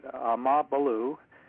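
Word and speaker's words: AmaBulu: He wrote the book, Amabalu, and that is pronounced as one word, about the white tribe of South Africa.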